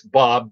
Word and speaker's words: Bobb: It's Bob, Bobb. And they'd always call me Bobby. And I'm like, you don't pronounce the second B.